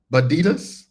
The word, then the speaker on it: Badas: Pronounced B. Badas. So, like Adidas, but with a B and a D. D.